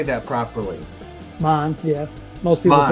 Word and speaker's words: Mahn: Mahn, Maine, how do you say that properly? Mahn, yeah.